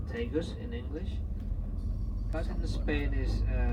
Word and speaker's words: Tagus: river Tagus we spell it in english t-80us pronounced tegus in english patent spade is ta j openers